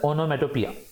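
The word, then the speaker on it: onomatopoeia: Basically refer to एज ओनोमेटोपिया। Spelling की तरफ देखोगे तो ओनोमेटोपोइया वगैरह ऐसे दिखेगा, बट it's basically refer to एज ओनोमेटोपिया।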